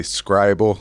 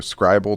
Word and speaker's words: Scrible: pronounce it, but I'm going to say Scrible because it's like scribble, the word scribble without a B. So there's one less B there. So I'm going to go Scrible Toolbar is the name of the extension.